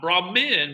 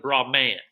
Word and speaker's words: Brahman: universal spirit is called look how it's spelled here bra man bra man not broad men but broad man the search for a